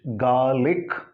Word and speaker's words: garlic: So here in Britain, garlic, this R is silent. But in America, that R is not silent, it is garlic.